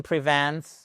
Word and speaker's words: prevent: This medicine prevent prevent. On n'oublie pas le S de la trè personne singulier. Le stress sur la seconde syllabe.